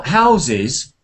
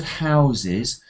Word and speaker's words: houses: picturesque look now how houses um if you s if you say the word houses the first s is pronounced usually as as as a zed so houses houses if